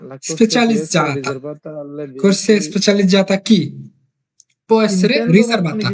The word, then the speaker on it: specializzata: essere riservata ai veicoli che intendono svoltare corsia specializzata. কোর্সিয়া স্পেশালিজata মানে কি স্পেশাল করছিয়া নাকি আরে বলা রে।